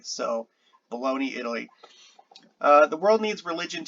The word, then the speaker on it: Bologna: I'm pretty sure that's how that's pronounced because that's Bologna. So um, in Italian, the G and the N make a ny sound like in Spanish, the Nye. So Bologna, Italy.